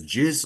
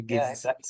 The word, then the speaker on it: Giz: I'm also very curious do I pronounce your name as jiz or giz yeah it's actually giz giz oh my g all